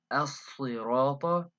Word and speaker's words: الصراط: So as-sirata, it's a word that has the sad, it has shadda, which means that it's as if you were pronouncing two sads in a row.